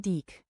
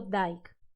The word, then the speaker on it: Dyck: Bueno, aquí dice que este hombre era alemán, así que se pronunciaría Walter Franz Anton Dyck. Estupendo, y me he pasado el vídeo entero pronunciándolo Dyke.